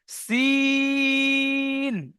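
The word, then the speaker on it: سين: সিন। আর যেখানে নোক্তা আছে সেটাকে কি বলবো? শিন। তিনালি টান দিয়ে সিনটা সিটি পাতলা আওয়াজে বার করতে হবে, আর শিনটা মোটা আওয়াজে। শিনের উচ্চারণ হয় জিভের মাঝখান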